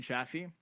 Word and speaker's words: Shafee: So Shafee like taffy.